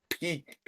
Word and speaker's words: pique: Peak. Not PK, not for football guy. Ah, pique, Peak. isn't it's pronounced It's pique? peak. Piquet? No. Not like the Barcelona player, it's peak.